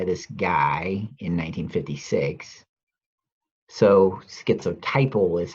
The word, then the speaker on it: schizotypal: first coined by this guy in 1956 so schizotypal is how i've decided is the correct way to pronounce the disorder he calls it a schizophrenic